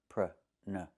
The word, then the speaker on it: pronunciation: So, the two first vowels are the same sound. Uh uh pruh nuh closed and relaxed. Pruh nuh, pruh nuh, pronunciation. Not pronunciation. The verb is pronounce. You pronounce the word this way, you pronounce the word that way. But, the noun is pronunciation. With the short uh sound.